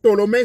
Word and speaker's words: Ptolémée: Ptolémée s'écrit avec P, mais on ne prononce pas le P. Donc, Ptolémée Sauter, troisième.